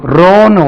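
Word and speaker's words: row: சிரி வந்துட்டு எனக்கு பாருங்க ஆங்கிலத்துல ஆர் ஓ டபள்யூ ரோன்னு ஒரு வார்த்தை இருக்கு ரோ ரோனா வரிசை first ரோ second ரோ third ரோ இருக்கு அல்லவா வரிசை இதை நீங்க ரௌ என்று உச்சரித்தால் ரவ் முதல்ல ரோ இதை ரவ் என்று உச்சரித்தால் எப்படி சொல்லணும் இது ரவ் இப்படிதான ரவ் என்று உச்சரித்தால் சண்டைன்னு அர்த்தம் சண்டை சண்டை போடுறது தகரார்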